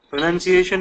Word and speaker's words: pronunciation: Pronunciation is correct. Pronunciation. A lot of them say pronunciation. There is no noun in that.